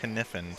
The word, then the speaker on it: Kniffen: Well, Kevin was pronouncing it Kniffen, so we're gonna go Kniffen.